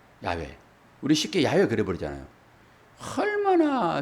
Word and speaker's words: 야훼: 그래서 우리의 발음은 여호와지만은 원래는 야훼 이런 식의 발음하는 것입니다. 야훼.